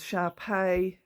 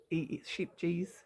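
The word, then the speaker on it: Scheepjes: I was told it was Sharpay, but I say sheep, so it's SHEEPJE, sheep G's, sheep, Sharpay, sheeps, whatever.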